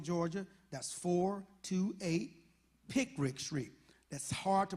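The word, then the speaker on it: Picric: send a check in the mail to 428 pick rick street uh brunswick georgia that's four to eight pick rick street that's hard to pronounce but let me spell it it is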